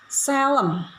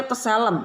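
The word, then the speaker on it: צֶלֶם: Bahasa Ibrani, gambar dan rupa Allah di dalam Kejadian ditulis dengan bahasa Selem. Selem. T, kalau orang baca Tselem, tapi bacanya Selem, yang artinya gambar, model yang asli.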